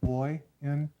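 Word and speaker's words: Boin: hearing it pronounced right it's b o i n and it's pronounced boy n thank you Mr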